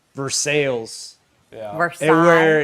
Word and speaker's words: Versailles: but that's the thing is to be fair, in Kentucky, it's pronounced Versailles, and that's how people get.